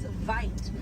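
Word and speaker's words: wyd: Original word for white rhino was vite. Vite means wide in Afrikaans, but over time it was misheard and mispronounced, and it turns into the white rhino.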